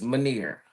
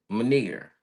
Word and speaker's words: Maner: It's It's like veneer, but instead of veneer, it's maner. Maner.